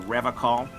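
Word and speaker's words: Revachol: I've been tempted on occasion, but someone has to stay strong for Revacol. He pronounces Revacol with a hard K, unlike other people.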